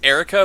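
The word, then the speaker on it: Airwrecka: Orcs Erica wait America it's it's Erica but it's spelled entirely phonetic it's spelled a-i-r-w-r-e-c-k-a at least so it's just spelled Erica if there was ever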